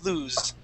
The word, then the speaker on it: lose: Okay, that is with that Z sound, lose. That's the voiced S.